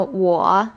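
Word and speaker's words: 我: high and steady cafe as we know wa means i it is in the third tongue i said what yao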